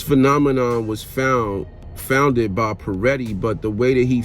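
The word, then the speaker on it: Pareto: was found founded by peretti but the way that he found and is not spelled like how it sounds it's spelled p-a-r-e-t-t-o peretti's principle but the way that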